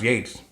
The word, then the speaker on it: Yeats: the second coming by WB Yeats looks like he eats actually pronounced Yates weird I don't understand